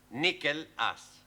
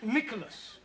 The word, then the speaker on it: Nicholas: upon a times there was a man called nickel ass it's not quite right no no once upon a time there was a woman called nich as it's pronounced Nicholas all right once upon a time there was